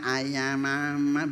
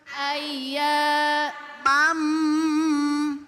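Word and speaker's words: أَيَّامًا: perhatikan ketika di sini ada tasdid ada tasas ini kudu di tekan te tekan jangan bacanya Ay Mama jangan begitu Itu namanya lagi nervous lagi sambil masang ayam begitu ya Nah di sini kudu dinaikkan ayya ayya 1 2 3 ayya mam mam ayyamam ma'dudat ayamam ma'dudat Nah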